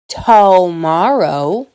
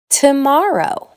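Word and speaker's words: tomorrow: I don’t say “TOE-morrow”, I say “t’morrow”.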